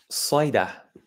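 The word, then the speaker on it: صيدا: So this is pronounced in Arabic, Saida.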